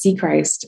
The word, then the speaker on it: Sechrist: Our last name is C Christ. S E Christ like Jesus.